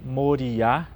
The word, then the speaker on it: Moriá: O nome do monte, o acento no final da palavra, então Monte Moriá, né?